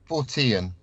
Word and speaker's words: Fortean: How do you pronounce it, Carl? Fortean. Fortean.